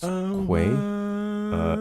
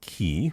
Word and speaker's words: quay: It's pronounced quay. Say it with me now. With a Q. Quay. Quay. Not key.